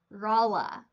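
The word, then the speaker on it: Rolla: report for the pronunciation rala is the correct pronunciation here uh one person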